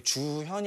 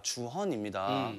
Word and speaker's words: 주헌: 어, 그래가지고 내가 저기 주현이 아니라 주헌입니다.